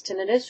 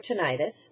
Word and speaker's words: tinnitus: is what tenus is pronounce tenus or tenius both are acceptable tenus is ringing of